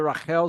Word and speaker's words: Rachel: behold Rael or Rachel it's really Rael is the right way to pronounce we might go I might say Rachel sometimes though Rael his daughter